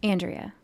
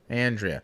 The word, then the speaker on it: Andrea: should introduce yeah and how do you correctly pronounce your first name andrea andrea okay because i know like 15 people with